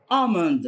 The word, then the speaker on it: almond: baking powder baking powder almonds almonds almond. خلي بالكم من كلمة almond اللي هو اللوز، طبعا حرف ال silent ما بيتنطقش.